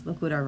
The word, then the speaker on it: Locura: So We might, bring Reese in and see how many times she pronounces Locura wrong.